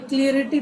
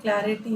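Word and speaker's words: clarity: इसका मतलब पहेली होता है, अनक्लियर है तो उसका आंसर इज क्लैरिटी, और क्लैरिटी का ना स्पेलिंग भी आता है, ये क्लियरिटी दे देते, क्लियरिटी थोड़ी होता है, क्लैरिटी होता है।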